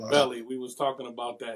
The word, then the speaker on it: Beli: so so it's pronounced belly we was talking about that it's pronounced belly king belly yes can pronounce billy